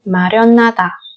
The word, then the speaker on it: 마련하다: Và 받침 니은 khi đi liền về sau nó là phụ âm hiệt. Thì cái hiệt này chúng ta lại coi nó là phụ âm câm luôn á. Tức là nối cái niềm này lên, đọc thành na.